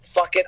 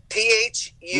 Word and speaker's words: Phuket: The accent is on the wrong syllable.